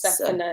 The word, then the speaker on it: Zephaniah: He, So it's pronounced yes, Zephaniah.